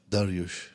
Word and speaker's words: Dariush: Nothing to do with Darwish. Dariush. Nothing. And my surname is. It's like going up, right? okay. But not spelled the same as Arabia. It's Yes, with a it's-. So I said. I can say. But you can't say Dariush. Dariush. Yes, perfect.